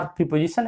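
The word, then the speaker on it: preposition: वो जो प्रीपोजिशन बोला जाता है, प्रे है वो। प्रीपोजिशन जो कहे, प्री, ये जैसा लिखा है वैसा ही उच्चारण करिए। प्रेपोजिशन, pray, प्रेपोजिशन, प्रेपोजिशन, प्रीपोजिशन नहीं, प्रे लिखा है, प्रेपोजिशन।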